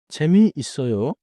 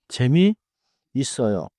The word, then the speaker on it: 재미있어요: 재미 있어요. is often pronounced as one smooth word. 재미 있어요.